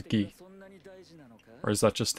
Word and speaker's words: Guy: So his name's not pronounced as Guy, it's pronounced as Gi.